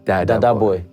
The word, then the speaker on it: Dadaboy: Right, pronouncing it like Dada, Daddy. Dadaboy. Dadaboy.